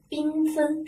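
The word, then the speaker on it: 缤纷: 个，冰，冰是一个前鼻发音，是不是？前鼻发音。那么我们给它读什么？缤纷，是不是？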